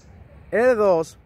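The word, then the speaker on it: deux: lo llaman con dice 2 ahí podemos escuchar la francesa que es una e cerrada la equis no suena al menos que vaya seguida de una vocal o la hace muda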